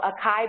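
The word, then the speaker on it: açaí: BUT THIS IS THEIR LATEST, IT'S AN APP THAT LISTS HERBS, THAT YOU CAN TAKE AND SO ACAI BERRIES IS HOW YOU PRONOUNCE IT.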